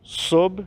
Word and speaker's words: sob: Pôs tudo sob seus pés. Então, pôs de colocar, e o sob, falando aqui com um B mudo, né?